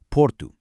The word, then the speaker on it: Porto: The city of Porto is often pronounced with a very short soft oo at the end. Porto, almost like a whisper.